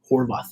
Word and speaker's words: Horvath: And I tell you what, the goalkeeper, right, Ethan Horvath, how do you pronounce his last name? Horvath, yeah.